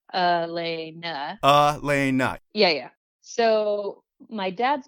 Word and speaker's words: Alana: is a little weird, your name is spelled Alana, but pronounced Ulana, like UHLANEUH phonetically. How does that even happen? Okay. I think you got that information from Roy, and it's actually Elena. Elena.